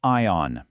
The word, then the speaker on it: iron: When you press your clothes, you don't use an iron. The R is basically silent. So, it's an ion.